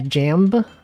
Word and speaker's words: jamb: There's jamb and jam. Door jam has a B at the end. The B is silent.